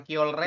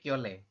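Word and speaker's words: 켤레: Nah, dibacanya kiole ya, bukan kiolre Ya. tapi kiole.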